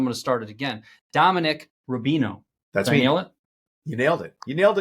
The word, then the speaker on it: Dominic Rubino: SEC on your last name and then I butchered the first I'm going to start it again Dominic Rubino that's me you nailed it you nailed it